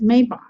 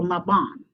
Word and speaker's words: Mabon: This day is also known as Mabon or Mabon, depending on how you pronounce it.